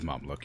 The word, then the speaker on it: Mameluke: Is it Mameluke and not Mameluke? Am I mispronouncing that? It is Mameluke, you're right.